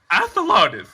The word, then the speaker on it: Athelardus: is lotus excellent no athologis is how you pronounce it what it's spelled the